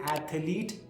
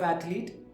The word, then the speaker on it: athlete: commonly mispronounced words are saying aks instead of ask or wif instead of with or saying athalete instead of athlete so pay close attention